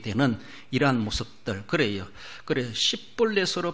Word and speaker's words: 십볼렛: 영어로 보면 스펠링 하나 차이라 거기에 H가 들어갔느냐 안 들어갔느냐 SH냐 S냐 요 발음이에요.